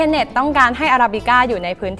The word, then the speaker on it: Arabica: ญี่ปุ่น เรื่อง ที่ 7 จริง ๆ แล้ว ชื่อ ร้าน เนี่ย อ่าน ว่า อราบิก้า เฉย ๆ ส่วน รูป เปอร์เซ็นต์ เขา